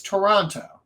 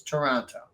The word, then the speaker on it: Toronto: __ ] City yeah no it's Toronto it's Toronto that's how you say it because there's a tea